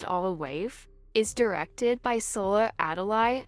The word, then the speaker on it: Our Wife: This movie, titled Our Wife, pronounced Olawaif, is directed by Sola Adalai and Toyin Abraham Ajami.